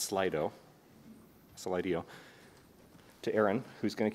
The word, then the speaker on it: Slido: And we're going to bounce directly to, once again, it's pronounced Slido, to Aaron, who's going to kick it off with some distinction between hype and reality.